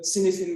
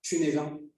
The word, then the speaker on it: Cynefin: It's the Cynefin model or Cynefin model, some people say. I think that's the correct pronunciation.